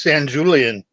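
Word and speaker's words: Sanjulian: you pronounced his name I always thought it was San Julian well I mean uh Paulo can come on and correct me or my wife could but I think the J in Spanish is you know like is pronounced that way yeah well that would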